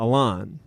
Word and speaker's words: Alon: So I changed my name to Alon, like a lawnmower, and that's what I would tell everybody. And that's how I would get them to pronounce it the right way.